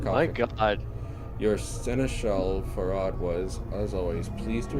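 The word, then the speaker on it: Pharod: And, okay, who's Farad, or Parad, or however you're going to pronounce it? I'm gonna go with Farad. Yeah, he is a collector, because it sounds a lot like Pharaoh when you say it that way, you know?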